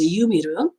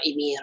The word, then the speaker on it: Ymir: controlled by this girl, by this Yumiru or Ymir. I'm saying all the double pronunciation, otherwise people complain.